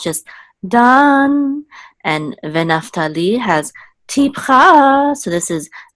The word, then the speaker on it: Naphtali: Dan has mercha, so it's just Dan, and Naphtali has tipcha, so this is Naphtali, and God has mercha, so this is God, and this is Ve'asher has sof pasuk, so this is Ve'asher. Okay, so Dan Naphtali, God Ve'asher.